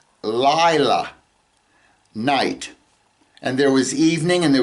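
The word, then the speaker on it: לילה: the darkness he called Lila, night. And there was evening and there was morning, day 1. The word for night is Lila, okay? And it's spelled Lamed, Yod, Lamed, Hey, right?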